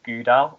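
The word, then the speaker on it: GDAL: got something called uh it's spelt g d a l and it's pronounced gouda which is a c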